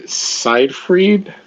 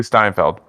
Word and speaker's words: Steinfeld: And is it Haley Seinfeld? Is that how you say her name? Haley Steinfeld. Seinfeld is Amanda Seinfeld. All right, yes. Haley Steinfeld is perfectly a character's I believe it's Steinfeld, not Steinfeld. Steinfeld with a T, right?